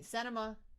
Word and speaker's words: Sinema: Sinema.